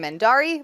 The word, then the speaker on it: Mendarii: You can find me across the internet under the name Mendari, which is spelled Mendarii.